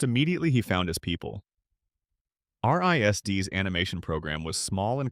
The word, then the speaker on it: RISD: After high school, Seth applied to the Rhode Island School of Design, known universally as RISD, pronounced Risd.